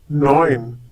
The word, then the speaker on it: neun: Neun. Once again, neun. In this case, EU is pronounced like OI, for example, in oil in English.